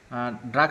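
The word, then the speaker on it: drogue: আচ্ছা, এরপরে দেখি আমরা আচ্ছা এখানে ড্রাগের কথা বলা হচ্ছে, দেখেন ড্রাগ সম্পর্কিত একটু বিস্তারিত লেখা আছে যে দ্য ওয়ার্ড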